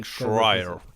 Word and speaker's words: Schreier: right yeah jason squire i think it's pronounced in russian it pronounced like schreier schreier so i had to